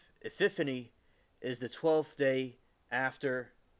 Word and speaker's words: Epiphany: to Christian holiday of epiphany epan which is celebrated on January 6 e any Maybe saying it wrong is epif Epiphany that's how you say it Epiphany is the